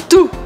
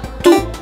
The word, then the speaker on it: tout: dominar a palavra T-O-U-T, tu. Então, você já percebeu que nessa palavra eu falo tu. Eu não pronuncio nem o U separado, nem o T no final.